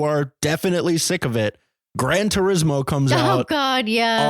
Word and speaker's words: Gran Turismo: true story apparently so wait is Gran Turismo how you say it yeah I always thought it was like Gran Torino no Gran Torino was